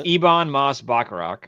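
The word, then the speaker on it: Ebon Moss-Bachrach: It's Ivon Moss Bakarok.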